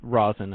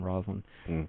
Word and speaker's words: Rosin: Carol, and it's Rosin. I guess I was pronouncing it wrong. I was saying Roslyn.